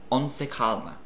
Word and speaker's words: on se calma: If you want to tell someone to calm down, settle down, like stop freaking out, on se calma, which is actually French, but you pronounce it almost as if it's Italian.